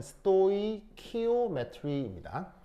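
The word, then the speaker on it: stoichiometry: 읽을 때 어떻게 읽냐면 스토이키오메트리입니다. 그래서 CH가 키 발음입니다. K 발음이 납니다.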